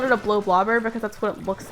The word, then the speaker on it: Bloblobber: to be honest but it looks like it's pronounced blow blobber and so that's what i've always called it uh wait what's the